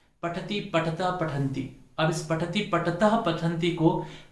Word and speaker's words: पठतः: बहुत गलती करते हैं, पठति, पठता, पठंती। अब इस पठति, पठतः, पठंती को पठति, पठत, पठंती कर देते हैं। पठसी, पठत, पठत, पठामी, पठाओ, पठाओ। अशुद्ध। हमें इसको विसर्ग का उच्चारण स्पष्ट रूप से करना चाहिए।